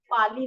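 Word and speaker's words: पालि: जैसे रामायण है ना, वैसे पिटक, और ये लिखी गई है पाली भाषा में, है ना, पाली भाषा में।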